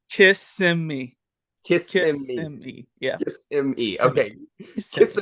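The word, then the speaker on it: Kissimmee: one more time Connor how do you corre correctly pronounce this suburb of Orlando kiss me kiss yeah kiss okay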